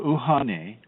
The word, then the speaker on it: Uhane: The middle self is spelled, it is called Uhane, and that's Uhan as in Nancy, E.